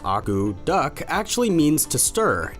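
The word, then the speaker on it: akutaq: The word agoutic, pronounced agou-duck, actually means to stir.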